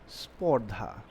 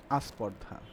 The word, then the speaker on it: স্পর্ধা: দেখেন এই স্পর্ধা শব্দটাকে যখন আমরা উচ্চারণ করি তখন কি অনেক ক্ষেত্রে কি হয়, উচ্চারণ হয়তো বা দ্রুত উচ্চারণ করার কারণে কিংবা কোনো কারণে দেখা যায় যে এটা উচ্চারণ হয়ে যায় কি আস্পর্ধা, উচ্চারণ হয়ে যায় আস্পর্ধা।